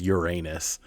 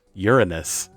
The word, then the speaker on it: Uranus: way that everyone does Uranus doesn't sound good and if you pronounce it the way that it's technically supposed to be pronounced Uranus it still has the word urine in it so it's just like